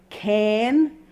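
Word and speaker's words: cairn: the top of a mountain it is a can is how you pronounce it with a lovely Scottish I love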